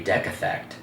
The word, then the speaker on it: decathect: This week's word is, oh God, decathect. Okay. Decathect. Decathect. How do you spell it? DECATHECT. Could be decathect. No, it's D. Is it a hard E or a long E sound?